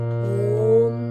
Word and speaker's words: ওম: এই যে হারমোনিয়ামের মধ্যে আমি ওম, এবার উচ্চারণটা আওম, আওম উচ্চারণটা করবেন। ওম, সাধারণত ওমটাই বলা হয়, কিন্তু উচ্চারণটা আওম, আটা একদম কি বলবো, আমাদের উদারা মোদারা তারা, তো উদার থেকে আসছে আ উচ্চারণ, উ হচ্ছে মোদারা, হচ্ছে মুখ, তারা।